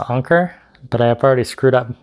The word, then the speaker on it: Anker: wireless charger by anker some people say anchor i like to pronounce anker but i've already screwed